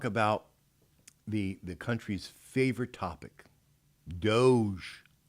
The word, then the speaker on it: DOGE: started reporting on it, it was mispronounced. They should have pronounced it dog-E.